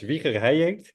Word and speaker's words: Wieger Heijink: We could make a podcast about how you pronounce it, but it's pronounced in Dutch Wieger Heijink.